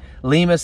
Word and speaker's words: Lima: Lima's son. I'm never calling him Lima's son. I don't care how many people are in Ohio saying it's pronounced Lima.